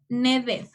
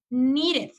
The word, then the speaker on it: needed: Sería aquí, no es needed, es needed. Entonces, aquí recuerden siempre que la doble E se pronunciaba como la I, sería needed.